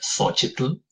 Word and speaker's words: Xochitl: Su facilidad o no, con la mal llamada J, porque no pueden pronunciar la sh de Xochitl, ¿sí?